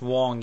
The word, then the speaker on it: Wang: Philip Wang or I've heard once it's actually pronounced Wong even though it's spelled Wing he's Chinese in